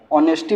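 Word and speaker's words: honesty: एच यहाँ पे silent होता है, ऑनेस्टी पढ़ते हैं इसे, जैसे हावर को आर पढ़ते हैं वैसे ही ऑनेस्टी को ऑनेस्टी बोल, इसे साइलेंट बोल रखते हैं।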